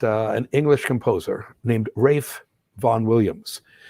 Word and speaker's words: Ralph: an english composer named rafe von williams that first name is spelled ralph but we have to remember that that it's only pronounced ralph in the united states everywhere else that spelling